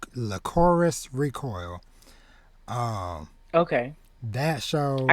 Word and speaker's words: Lycoris Recoil: I had caught up on it's pronounced Lycoris Recoil.